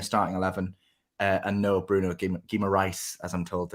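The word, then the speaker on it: Bruno Guimarães: burn in the starting eleven uh and no bruno gima rice as i'm told it's uh pronounced uh he's on the bench as well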